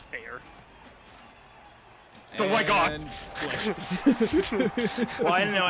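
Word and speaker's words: Feyr: It was probably just pronounced as fair. Not fey. It's fair.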